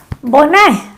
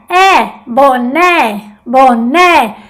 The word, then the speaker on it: boné: Como por ejemplo la palabra boné. Ne es más fuerte. Abre la boca. Boné, boné. Ahí que está la fuerza.